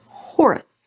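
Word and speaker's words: Horus: in rust Lehmann Russ Horace with the to rhyme with gore and us as a dentist Abaddon is Abaddon though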